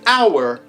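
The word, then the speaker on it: hour: you can ask him in some words we ignore the pronunciation of some letters for example in honor and in our we ignore the h we call those silent letters uh showa can you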